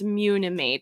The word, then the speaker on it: Munimade: now but yeah for for the record it's muna made like a unicorn yeah that's what everybody